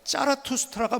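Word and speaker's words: Zarathustra: 자 근데 제목을 아십니까 짜라투스트라가 뭔가요 짜라투스트라 짜라투스트라는 앞서 제가 조로아스터교를 얘기했을 조로아스터교를 만든 사람이 조로아스터요 그때 조로아스터를 독일어 발음으로 하면 짜라투스트라 합니다 짜라투스트라 조로아스터라는 말이에요 조로아스터는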